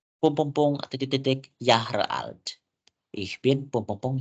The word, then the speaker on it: Jahre: So, Herr, kenapa kita bacanya Jahre alt? Ditulisannya Jahre. Kenapa Jahre? So, teman-teman, karena dalam bahasa Jerman huruf J itu dibaca jadinya J atau Y. Gitu ya. Jadi dia itu seakan-akan huruf Y.